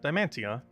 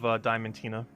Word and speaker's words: Diamantina: Yeah, that's how I normally say it. Diamantia. Instead of Diamantina. Because I normally say Diamantia. Which is a little bit less of an emphasis on the Tina. But all the syllables are there.